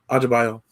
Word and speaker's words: Adebayo: Adebayo.